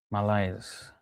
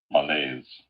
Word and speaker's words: malaise: Malise. Malise. Is that how it's pronounced? Malaise. Malaise.